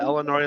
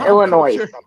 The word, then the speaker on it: Illinois: It's Illinois, by the way, not Illinois. It's Illinois. You don't pronounce the S. The S is silent.